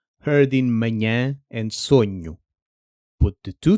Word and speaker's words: manhã: For nh, the ny in canyon does the same job. Slowed down and dropped into manhã or sonho.